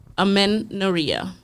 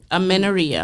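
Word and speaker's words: amenorrhea: first word we're going to go into is amenoria. Amenia. Amenia. Yes. And it's spelled A M E N O R R H E A.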